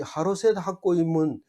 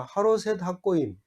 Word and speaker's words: 하로셋 학고임: 이 하로셋 학고임은 시험에도 안 나올 거고 앞으로도 별로 도움이 안 될 거지만, 오늘 한번 따라 해봅시다. 하로셋 학고임. 하로셋 학고임.